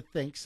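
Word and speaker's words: Thync: your head so it's a headset branded the thinks that's th h y n c pronounced think and it it's supposed to give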